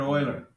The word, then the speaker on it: Euler: who's named after Leonard Oiler so this is named after Leonard Euler e-u-l-e-r but you spell it like the word oil so Leonard like we're